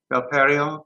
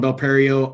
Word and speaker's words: Belperio: Belperio, good morning. Mr. Belperio. Yeah, good morning, Chair and board members. And you did say my name right. Chair Richards, my name is Belperio.